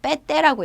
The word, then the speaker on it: PT: PT 아니고요. 빼떼라고 읽어요. 인도네시아 발음 다릅니다.